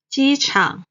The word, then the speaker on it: 机场: 新闻新闻 Next, 机场 the airport. 机 is the first tone. 场 is the third tone.